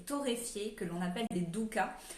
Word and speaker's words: dukkah: Donc cette enseigne propose des mélanges de noix et de graines concassées et torréfiées que l'on appelle des doukas. Le douka, c'est la bonne prononciation, je me suis renseignée.